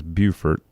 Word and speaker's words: Beaufort: And so, and it says South Carolina is Beaufort. So you were saying it right, Beaufort and North Carolina.